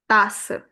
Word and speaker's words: tasse: Here also, E silent, but give its whole sound to SS, which will become tasse.